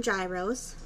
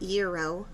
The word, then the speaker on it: gyro: if you call them gyros that's okay but that is incorrect the greek word euro or pronounced as hero is spelled g r